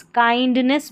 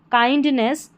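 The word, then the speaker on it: kindness: काइंडनेस बन गया। आई एन डी रहता है। इसको आइंड करके पढ़ते हैं। अक्सर काइंडनेस।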